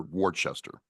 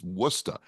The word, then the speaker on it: Worcester: you know mistress I I first pronounced Worcester Worchester everybody does and you know I was like you freaking what are you saying it's wora anyway I I do